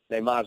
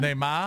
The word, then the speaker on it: Neymar: Neymar's not. So let's get your picks I here. love the pronunciation too. Give me it again. Neymar. It's almost a Nomar.